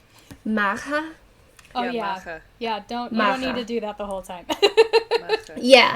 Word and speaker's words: Macha: The correct pronunciation for her name would be, oh god, Maha.